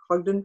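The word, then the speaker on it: Hodgdon: company that makes powder hog hog i can't pronounce that hud h-o-d-g-d-o-n ogden which is the powder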